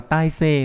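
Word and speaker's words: たいせい: Còn khi đọc là tai xê nó mang nghĩa là trạng thái, tình hình của sự vật, hiện tượng.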